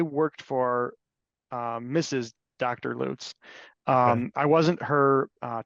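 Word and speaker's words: Lutts: case l u TTS sure that everybody pronounces L but but the parties actually call the parties actually refer to themselves as loots um they're I think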